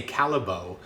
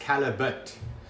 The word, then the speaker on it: Callebaut: but people often say Callebaut, but it's not a French name, it's a Flemish name. So it's pronounced Callebaut.